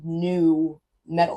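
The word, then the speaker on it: nu metal: New metal is just new metal. Like, it's just like, because it's spelled NU, but it's really just new metal.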